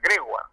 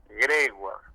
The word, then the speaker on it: Gregoire: me dice, mira pibe, pero este apellido es francés, ¿no es cierto? Sí, es francés. Ah, bueno, entonces se pronuncia Gregoire, y lo acentuó así, Gregoire.